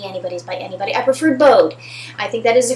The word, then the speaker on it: Bode: Some people pronounce it Bode. The Anybody's by Anybody. I prefer Bode.